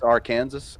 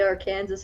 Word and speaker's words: Arkansas: pronounced that wrong it's Arkansas actually yeah I'm pretty sure I heard I heard if you say our Kansas and Arkansas they'll throw should I do depends